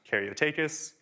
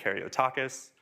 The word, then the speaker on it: Karyotakis: So my last name is pronounced Karyotakis. Most people and most models will say Karyotakis.